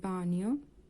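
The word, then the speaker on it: bagno: প্রবলেমা সমস্যা নেই দভল বানিয় দভল বানিয় এখানে বানিয়র উচ্চারণটা লক্ষ্য করুন। জি এর কিন্তু এখানে কোন উচ্চারণ হচ্ছে না।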